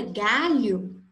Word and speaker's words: galho: A palavra galho possui 5 letras, G, A, L, H, O. E possui apenas 4 fonemas, porque essas 2 letras juntas, L e H, elas formam apenas um som.